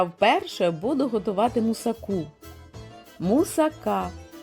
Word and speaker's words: мусака: вперше буду готувати мусаку мусака Саме так правильно вимовляти це вишукана грецька запіканка